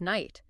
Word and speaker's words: night: But over time, speakers just got tired of making those difficult sounds and dropped them, streamlining the pronunciation to just night. But Caxton had already locked the K and the gh into the dictionary. So the letters just sit there now like ghosts haunting the word.